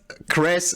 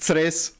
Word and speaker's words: Cres: but Kres, it's not Kres, it's Tres.